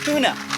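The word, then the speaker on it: toona: pretty t-o-o-n-a like Flynn goes like tuna fish but it's spelled t-o-o-n-a and they're very rare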